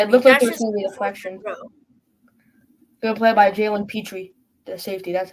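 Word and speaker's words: Jalen Pitre: there but yeah it look good play by Jaylen Petri the safety that's how you say it I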